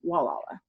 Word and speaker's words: Gualala: of local joke that they know you're a tourist if you pronounce it and so if you pronounce it properly you're a local walala so since we're on